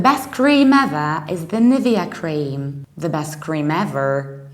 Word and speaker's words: Nivea: one and usually at least in Poland people pronounce it like NAVAIR so their way the Polish phonetic system would